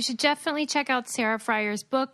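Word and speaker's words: Frier: Sarah, is your last name pronounced Fryer? Fryer.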